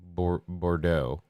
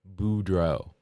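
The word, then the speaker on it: Boudreau: So, I got it right that time then because I didn't say Bordo. Bordeaux. Not Bordeaux. It's He's not wine. That's the way to remember it. Budro. I said it right this time. I said Budro.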